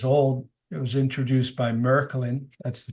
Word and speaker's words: Märklin: uh 125 years old it was introduced by merklin that's the K correct pronunciation I speak German um merklin also invented